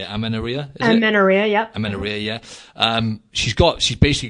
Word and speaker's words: amenorrhea: Amenorrhea, yep.